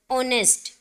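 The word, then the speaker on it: honest: इस नोट अव्वल बट यहां इस वर्ड टो प्रोनाउंस करते हुए हम क्या बोलते हैं ऑनेस्ट लेट्स इस साइलेंट हेयर टिप्स साइलेंट होता है जो हेयर विलियर्स थिस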